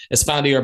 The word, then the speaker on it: Esfandiar: No, you actually got the first name like 100% correct.